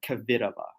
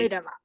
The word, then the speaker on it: Kvitova: You just tried so hard, and well, you need like to yeah, soften Americans your they always want to stress at least one syllable, like Kvitova, but it's should be Kvitova.